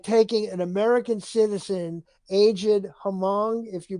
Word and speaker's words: Hmong: years ago like taking an American citizen aged Hmong, if you pronounce it correctly, Asian American grandfather and pushing